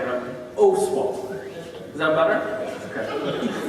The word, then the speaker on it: Oswald: He tried to teach me before how to say the last name, but Oswald. Is that better? Okay. It's an O with an S on the end.